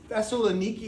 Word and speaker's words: Thessaloniki: Thessaloniki is the name they would pronounce it in Greek, and the Thessalonica was the sister of Alexander the Great.